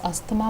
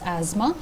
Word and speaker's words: asthma: हैं जिनको एजमा है, दैट is commonly known as अस्थमा बाय ऑल ऑफ यू, बट the correct pronunciation is एजमा।